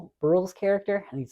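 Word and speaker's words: Brühl: there's this other kind of story with Danielle brill's Brule's character I need to say his name Brule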